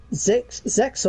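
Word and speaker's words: Zexal: Arc 5, no, Zexo or Zale, however you want to say it, because apparently the X is silent in its name.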